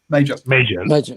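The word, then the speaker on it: Mauger: Major, like the army rank.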